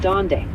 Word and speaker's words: dónde: The H in donde is silent, so it sounds like donde.